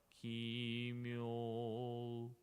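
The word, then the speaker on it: 帰命: If you can try yourself, first try without u, like kimyo, muryo, yeah? Just we pronouncing o, but it's not correct. We have to pronounce u gently.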